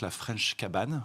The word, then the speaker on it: La Fraîche Cabane: une nouvelle marque et qui s'appelle donc la fraîche cabane on le prononce à à la française l'américaine a pas de problème donc la